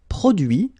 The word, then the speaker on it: produit: Introduire, introduit, produire, produit, réduire, réduit, séduire, séduit, traduire, traduit. Okay, so the same rule because, well, basically it's the same group and then same rule, final T not pronounced, so introduit, produit, réduit, séduit, traduit.